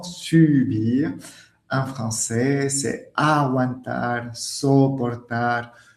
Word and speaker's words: subir: Alors que subir, attention à la prononciation, subir, en français, c'est aguantar, soportar.